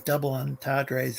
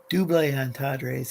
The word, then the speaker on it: double entendres: But there's this thing called slackness, and it's like these double entendres or double entendres if you want to be fancy. And actually pronounce it the French way.